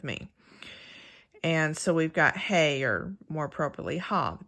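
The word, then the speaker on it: ה: and so we've got hay or more properly Hall the pictograph hop and this will be important to remember because the pictograph that most people pronounce as hey is actually ha and I'll do this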